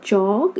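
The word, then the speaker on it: chalk: बी के बाद आ रहा है वावल, यहाँ जाएगा बॉल, ये हो गया चौक, इसमें एल साइलेंट हो गया हमारा, तो चे और के का स्ट्रोक बनेगा।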